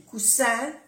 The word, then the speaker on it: coussin: No se oye mucho la diferencia con la S, pero es importante pronunciar bien las dos S. O cuando hay una S se pronuncia como una Z suave.